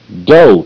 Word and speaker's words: dough: Okay, but in this case, the O-U is making the long O sound, O, O.